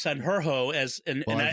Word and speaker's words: Sanjurjo: I have called him Thomas Sanjurjo, Yurgo, but it's Sanjurjo and I tried to get it right.